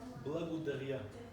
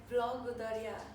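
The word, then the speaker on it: благодаря: Blagodaria. Blagodaria.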